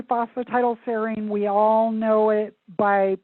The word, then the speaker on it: phosphatidylserine: It's phosphatidylserine, and I'll spell that for you.